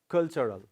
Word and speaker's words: cultural: Now we have another word again, that is cultural. Where does the stress fall in this word? Yes, on the first syllable. Okay, so cultural.